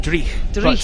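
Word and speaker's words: dreich: the national international sports centre a little bit dry as they would say in scotland uh is that correct well it's actually pronounced dre but yes yes that's uh that's what we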